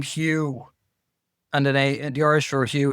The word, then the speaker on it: Hugh: Like, the name Hugh, and the Irish for Hugh is AODH, but then Hugh, HUGH. We don't even realize there's a GH there, and we don't pronounce it.